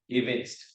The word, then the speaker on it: evince: and even the pronunciation I noticed the people who are saying against it's pronounced as events so something to note